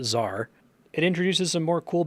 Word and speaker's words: Czar: This quest finally taught me that I was pronouncing that wrong. It's not Tizar, it's just Czar.